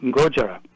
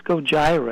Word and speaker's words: Gojira: as Godzilla phonetically so if you say Godzilla three times real fast you pretty much have got the Japanese pronunciation gotcha gotcha the um